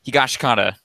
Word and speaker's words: Higashikata: Meets Josuke Higashikata. Yeah, something like that. Higashikata. They pronounce it a lot like Higashikata really fast in the anime, so I'm going to go with that.